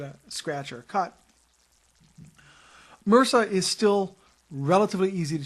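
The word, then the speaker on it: MRSA: orus or Mr RSA which in health lingo is pronounced Mera um another one is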